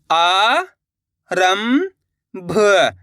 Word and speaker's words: आरंभ: सन चार र संचार आ रं भ तो मिलके बन जाएगा आरंभ इस शब्द के अंदर भी अपन ने आधा मा का उच्चारण कराए।